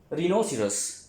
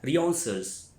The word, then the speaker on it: rhinoceros: अच्छा, उसके बाद हमारे पास लफ्ज़ है रिनोसिरस। रेनोसिरस, रिनोसिरस या रियोन्सर्स, इसको तीन प्रोनाउंसिएशन में हम पढ़ सकते हैं, ठीक है, जो भी आपको आसान लगे।